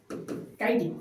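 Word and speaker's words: chitin: তুমি দেখে এখানে কিন্তু কাইটিন যেটা আছে সেটা কিন্তু উচ্চারণ তোমাদেরকে মাথায় রাখতে হবে। কাইটিন সি এইচ আই টি আই এনটি কাইটিন ওকে বুঝতে পারছো নেক্সট আমরা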